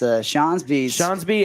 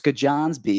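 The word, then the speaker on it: Skjonsby: If you thought that Hootsison's name was hard to pronounce, Shonsby at first glance, not an easy one. Everyone always says it's Skajonsby. Yeah. It's how it's spelled.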